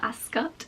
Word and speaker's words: Ascot: And because Royal Ascot is, Royal Ascot, the correct pronunciation, is mostly outside, it's not really the kind of place where you go with a really full face of makeup.